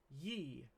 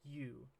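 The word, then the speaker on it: ゆ: sounds so ET ET this one should be ye right I'm afraid not this is you that's because Japanese doesn't have y thank goodness actually there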